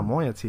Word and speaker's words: moiety: No, moiety is how it's pronounced.